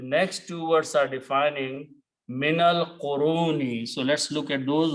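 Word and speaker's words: مِنَ الْقُرُونِ: To do that, you have to change this to a fatah and this to a swad, which means do not pronounce alif. Minal qurun.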